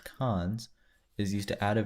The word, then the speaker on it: cons: The list constructor operator, written : and pronounced cons, is used to add a value at the head of a list.